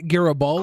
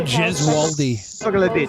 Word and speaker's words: Gesualdi: Vito Garibaldi. Corleone. Vito Gaspucci. Amerigo Vespucci. I think it's pronounced Vito Gesualdi.